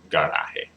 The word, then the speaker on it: garaje: Emphasize the second to last syllable when it ends on a vowel. Also an N or S.